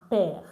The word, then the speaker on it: père: Il a un père. You see that I did not pronounce this E at the end.